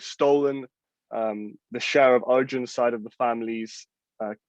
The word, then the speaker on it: Arjun: the mahabharat which where my namesake and pronounced in sanskrit arjun is coming up against